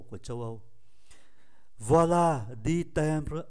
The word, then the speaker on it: timbre: Chúng ta rất cần phải chú ý tới cái chữ timbre này. Chữ M đứng trước B thì phát âm là N, timbre.